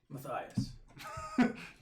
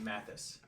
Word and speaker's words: Matthias: Oh, that's Matthias. I almost said Mathis. It's Matthias. When he first wrote it down, I was like, how is this pronounced?